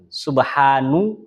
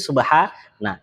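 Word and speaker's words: سبحانَ: Nggak pernah dibaca subhanu atau subhani, nggak pernah. Pasti subhana.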